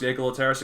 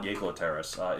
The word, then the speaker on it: Jaekelopterus: I'm assuming it's pronounced Jaekelopterus. It could be Jaekelopterus. I think Jaekelopterus. Yeah, because Germanic words beginning with the J make the Y sound. You're like Jaeger, Johann.